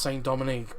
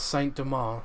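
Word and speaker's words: Saint-Domingue: only a year before i thought it was pronounced saying dominique but but for the purpose of the video i'll just pronounce how it's pronounced in this in this video um as saint demar so i know this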